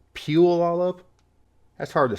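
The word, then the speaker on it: Puyallup: it it's pu Olive it's not poo y'all up it's peel all up that's hard to say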